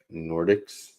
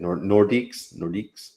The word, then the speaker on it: Nordiques: The Quebec Nordics. Is that how you say it? Nordiques.